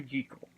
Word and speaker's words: Jekyll: I almost said Jekyll there. Dr. Henry Jekyll.